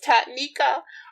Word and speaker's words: Taniquea: er you know it's my name is difficult to pronounce on paper it's only three syllables tatnika but of course it